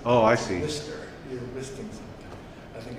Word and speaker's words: MiSTer: Not Mr. as in addressing a person, but I think it's Mr. as in like if you had a spray bottle. Okay. You're misting something. Oh, I see. Mister, you're misting something.